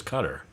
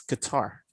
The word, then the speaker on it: Qatar: they pronounce it there's cutter so you're pretty sure though tina no no it's qatar it's k-a-h and then t-e-r it's guitar i'll tell you what in arabic when they pronounce it it's guitar i'll tell you what